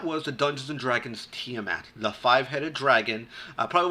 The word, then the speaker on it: Tiamat: kid from the dnd cartoon the five-headed dragon tiamat not pronounced tiomat it's pronounced tmat that's the name of the dragon that's all